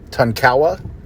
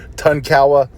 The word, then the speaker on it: Tonkawa: area and the and i don't know how to pronounce this because i've looked on youtube and it's said a few different ways tonkawa and i'm going to pronounce it tonkara tonkawa because that's how two native american videos i saw pronounced it so the spanish explorers